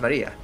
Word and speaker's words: Maria: Of course, that is pronounced Maria.